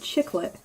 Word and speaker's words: Chicklet: It's called Chicklet. But like it's spelled like lit. Like this is lit, like all the cool kids are saying.